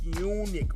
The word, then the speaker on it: Punic: him and Hannibal the Great was called the Punic Wars, and that's how you pronounce that, Mr.